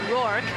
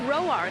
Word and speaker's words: Roark: Was it Rourke or was it Roark? I spoke to Tanner and he said, you know, all throughout the minors I went by Rourke, and then it was his grandmother, Lorraine.